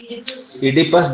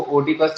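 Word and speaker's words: Oedipus: Spelling देख लेंगे, इसको ओडिपस नहीं बोलते, इडिपस बोलते हैं। ओ साइलेंट हो जाता है, स्पेलिंग में आता है मगर।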